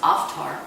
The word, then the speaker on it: Avtar: means 1.2 devotion and an avatar or it's pronounced oft are avatar means a divine one who's come from